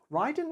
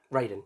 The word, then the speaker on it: Raiden: nine consecutive victories ugh Raiden Ryden Raiden Raiden Raiden rhymes with Aiden the god of thunder